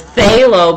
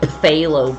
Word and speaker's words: phthalo: and like cinderella says phthalo blue because i learned 40 years later that i've been calling it phthalo blue for years and the p is silent so i'm actually going